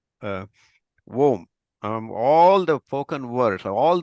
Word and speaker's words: Om: Because if you exactly say the Om, you're supposed to say Om. You're starting all the way down from the belly button and it goes out like a Om, like that.